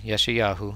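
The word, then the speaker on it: Yeshayahu: this is from uh yeshuyahu Isaiah Isaiah yeshuyahu that's that's how you pronounce that uh chapter 18.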